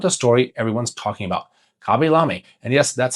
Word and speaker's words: Khaby Lame: Khaby Lame, and yes, that's how his name is pronounced.